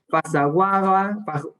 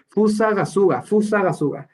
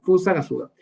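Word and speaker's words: Fusagasugá: Vallarta, de Zamora, Querétaro, Pasaguaba, no, lo pronuncié súper mal, Gasuga, qué mal lo pronuncié, Fusagasuga, no se me olvida, Fusagasuga.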